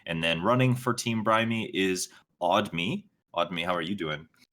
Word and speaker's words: Brime: But the team name is actually pronounced Brimey because it's a combination of our names. But I like to think of it as Team Brime because if you use